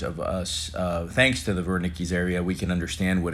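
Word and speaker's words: Wernicke: language and speaking and you have the Verna keys areas as in Bill hem Bunte pronouncing that w as a V the Verna keys area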